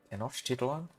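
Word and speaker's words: Tenochtitlan: John uh John Winchester of the Aztec of Mesotlan Tenotitan or how how do you pronounce it? Tenosh Titlan. Yeah, we're not going to call it Tennos Titlan.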